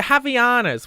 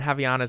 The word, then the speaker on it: Havaianas: Let me tell you, Havaianas.